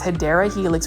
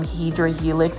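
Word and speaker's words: Hedera helix: this beautiful HRA Helix the correct way to say it though is hyera Helix which is an English IV um but for some reason I used to call them hedr Helix and it's kind of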